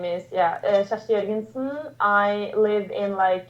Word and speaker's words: Kjersti: But in my Norwegian, where with my dialect, because it's pronounced different in Norway as well, but I say Kjersti.